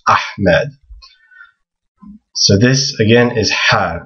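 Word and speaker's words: أحمد: it's not a So, when you hear people say ahmed, they're actually pronouncing it wrong. It's actually this letter that they're that they want to try to pronounce. It's ahmed.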